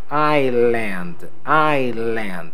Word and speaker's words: island: Esta palavrinha aqui, pessoal, nós pronunciamos assim, ó, island, alright?